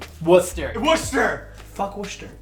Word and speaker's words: Worcester: Worcester. Worcester. Worcester. Fuck Worcester. It is Worcester. It's Worcester. It's not even. It doesn't even have an R.